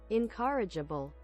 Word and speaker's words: incorrigible: Do you hear this? Incorrigible. That doesn't sound like how it reads. I don't know how to pronounce the word you just typed either. I would have pronounced it corrugation. Google Translate tells me that it is pronounced Incorrigible.